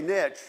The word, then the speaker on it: Neche: Oh, like niche. Okay, niche. Okay, so I don't pronounce that E on the end.